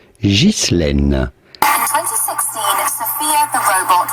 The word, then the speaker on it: Ghislaine: Now in French, this is normally pronounced Ghislaine.